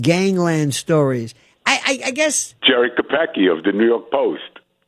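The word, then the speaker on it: Capeci: I guess Jerry Kopecki of the New York Post. Oh, well, no, you mean the writer? Yeah. He still has a website called Gangland. No, it's Kopecki.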